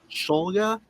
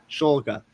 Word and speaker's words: Shulga: The Boston Celtics uh for the 57th pick in the NBA draft, the Boston Celtics select Max Scholga. Is that how you say it again? Shoga. Schulga.